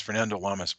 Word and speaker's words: Fernando Lamas: Yes, Fernando Lamas.